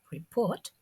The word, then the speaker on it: report: Rapport retains its French pronunciation in English, unlike report, in which the end T is pronounced.